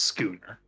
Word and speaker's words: schooner: hate to do this again but it is pronounced schooner i don't care i can only do